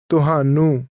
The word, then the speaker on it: ਤੁਹਾਨੂੰ: ਤੁਹਾਨੂੰ Is one of these words, and it is pronounced with a tone that falls to a low level.